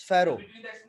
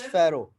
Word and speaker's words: Pharaoh: So the word Pharoah, it starts from P but pronounced from F. It's Pharaoh. It's Pharaoh, like a knowledge.